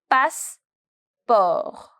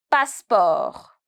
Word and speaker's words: passeport: Un passeport. Un passeport. My T is silent. Un passeport.